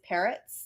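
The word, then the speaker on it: Peretz: the pronunciation is like like the bird like two birds or multiple parrots so i love my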